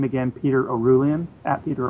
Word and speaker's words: Orullian: Um I'm on Twitter just is my name again, Peter Oulan. Peter Orulan.